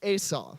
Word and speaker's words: Esau: Now, it's actually pronounced, I'm really picky about how I pronounce people's names because I don't want to be rude. So his name is actually Esau.